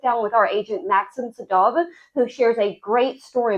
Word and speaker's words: Sedov: Sedov. Yes, Sedov. Okay, good. That's how we pronounce it.